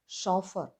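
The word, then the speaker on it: chauffeur: CH combination വരുന്ന മറ്റൊരു വാക്കാണ് ഷോഫർ, ഷെഫ്. ഇവിടെ CH കോമ്പിനേഷന് ഷ സൗണ്ടാണ്.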